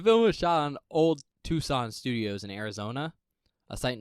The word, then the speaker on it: Tucson: See, look how you'd be pronounced Tuscan. Tucson. No, it'd be Tucson because it's T-U-C-S. Is it? Yeah. I thought it was T-S-C-O-N. T-U-S-C-O-N. Okay. I don't know. Unless I did it backwards. Oh, no, Tucson makes sense. The C is silent?